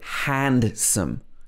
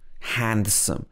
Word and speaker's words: handsome: so we don't say handsome handsome we say handsome handsome he's very handsome and